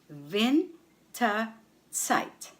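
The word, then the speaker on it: Winterzeit: in autumn winter side Vin site the stress is on VIN on the first syllable vent site or what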